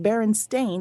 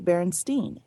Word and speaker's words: Berenstain: So it would be pronounced Berenstain instead of Berenstein or Stein.